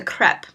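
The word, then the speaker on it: crêpe: But I had a crepe, and some professor in line told me that it wasn't a crepe, it's a crepe. Because of the accent over the E. You don't pronounce it crepe, you pronounce it crepe.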